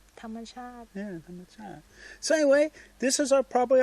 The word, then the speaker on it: ธรรมชาติ: Hamasat, how do you say? natural Yeah. You like? ชอบ natural How do you say? ธรรมชาติ Yeah, Hamasat.